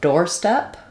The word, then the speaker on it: doorstep: So my door is going to be longer, more stressed. The O r say says just the or sound. Um, and then step is going to still have my clear f vowel. So, I wouldn't really respell it except for maybe writing door this way so you know it's an or vowel. Step has the e sound like red. So, a red door step.